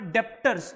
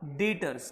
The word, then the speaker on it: debtors: इसको बोलते समय डेप्टर्स मत बोलना, डेप्टर्स स्पेलिंग लिखने के लिए ठीक है, डेप्टर, पर बोलते समय क्या बोलने का? डेटर्स। क्या बोलने का? Spelling डेप्टर। क्लियर?